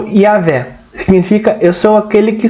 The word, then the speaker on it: Yahvé: A Moisés apresenta-se nominalmente, o seu nome misterioso, que é pronunciado como Yahvé, significa eu sou aquele que sou, em Êxodo 3:14.